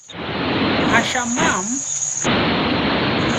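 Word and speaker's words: הַשָּׁמַיִם: Hashamam.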